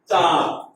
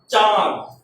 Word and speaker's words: চাঁদ: চাঁদ। একটু আওয়াজটা নাকে আসবে। চাঁদ। চ উচ্চারণটা গরম, কিন্তু এটা নাকে আসবে।